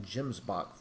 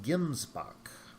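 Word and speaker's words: gemsbok: that the other day I had been pronouncing that Jim's box for all this time and come to find out it is pronounced gimsbach so keep that in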